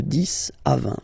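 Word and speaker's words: dix: to 20 okay the this okay so let's start now this okay so remember final X here is pronounced like s this this okay then okay so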